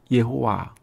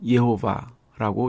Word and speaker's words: 여호와: 여호와는 영어로 표기하여 제호바라고 읽은 것인데 원어대로 하면 예호와 또는 예호바라고 읽을 수 있습니다.